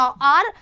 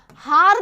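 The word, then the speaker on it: hour: आर दिखाई एच से देता है, लेकिन इसके पहले ओ का स्टार्टिंग होता है, एच यहाँ पे साइलेंट रहता है, इसको हार नहीं बोला जाता है, इसको आर बोला जाता है।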